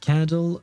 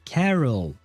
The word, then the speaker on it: Carol: it before you said candle adopt the siblings I didn't say candle I said carol c a r o L Carol. It's not candle.